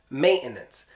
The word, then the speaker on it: maintenance: one is actually maintenance maintenance this one gets the Putin T maintenance and why it just does maintenance same thing like